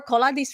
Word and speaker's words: Koldas: So Koldas or Koladis Romanian, but Koldas beyond Neptune.